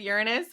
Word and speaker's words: Uranus: Because when people are like Uranus or like Uranus. They try to not say anus, I'm like, bitch. I say Uranus. I've always said Uranus, but yeah, like Uranus is absolutely.